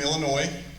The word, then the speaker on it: Illinois: I'm from Illinois. I'm not necessarily proud of that. The S is silent. Anybody that says Illinois, they're not from Illinois.